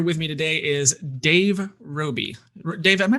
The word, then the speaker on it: Roby: uh uh here with me today is dave roby dave am i pronouncing your last name correctly oh yeah absolutely